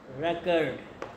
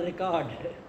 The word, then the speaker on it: record: For example, R-E-C-O-R-D. When it is noun, it is called record. When it is verb, it is called record. Same spelling. Record, record.